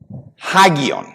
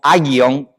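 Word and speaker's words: ἅγιον: Hagion con h. En español diríamos agion, pero en griego la primera letra como en español, ¿verdad? Eh, la H es muda, pero en inglés house se escucha.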